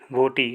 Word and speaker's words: भोटी: तो कौन सा दोस्तों लैंग्वेज है वो, तो उसका नाम है जो भोती, BH, राइट। मैं इसको स्पेलिंग देता हूँ एक बार आपको, BHOTI, राइट। पढ़ लीजिए इसको आप लोग, भोटी, राइट।